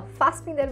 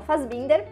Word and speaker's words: Fassbinder: Em alemão se fala Fassbinder, mas a gente fala Fassbinder. Inclusive, uma curiosidade, muita gente pergunta como pronuncia meu sobrenome, a gente fala Fassbinder mesmo, tá?